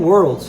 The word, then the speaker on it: world: segundo som que seria percebam que o l tá quase oculta ali no meio a gente não vai fazer World é uma pequena diferença